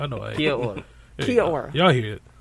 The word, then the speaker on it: Kia ora: Kia ora. Kia ora. Y'all hear it. It's spelled like Kia.